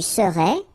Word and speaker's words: serais: Tu serais, final S not pronounced.